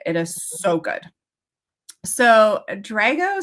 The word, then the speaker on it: Drago: yeah so this is I'm gonna say his name wrong and you're gonna correct me Drago Drago is it Dr a Geo yes Drago Drago Drago and Sienna I